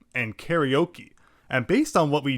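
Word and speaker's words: カラオケ: Karate, karaoke, unlike in English where it's karate and karaoke. When you see that a in Japanese, you know it's always pronounced in that same way.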